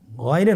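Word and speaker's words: غين: বলে থাকি গাই না এটা ভুল উচ্চারণ এভাবে উচ্চারণ করা যাবে না যেহেতু হরফটি মোটা এজন্য মোটা করে উচ্চারণ করতে হবে মাশাল্লাহ আলহামদুলিল্লাহ আমরা আজকের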